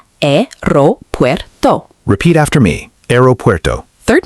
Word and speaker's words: aeropuerto: Second mistake, pronunciation. Aeropuerto is often mispronounced. Correct pronunciation, aeropuerto.